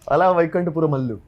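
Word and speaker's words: Ala Vaikunthapurramuloo: You're also, of course, doing Allah Vaikunta Purubalo. Yeah, उधर ही आ रहा था. I can pronounce it. Allah Vaikunta Puramallu.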